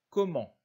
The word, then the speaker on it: comment: Longtemps, comment, là encore, le P et le S et le T ne se prononcent pas.